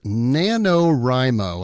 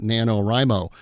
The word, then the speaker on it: NaNoWriMo: So today we're going to be talking about an organization called NanoRimo. And I'll spell that for you.